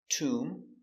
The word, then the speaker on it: tomb: So remember, whenever you see MB at the end of a word, the B is always silent.